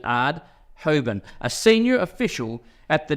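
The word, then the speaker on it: Aerdt Houben: Hoban a e DT so I pronounce it ad hobin a senior official at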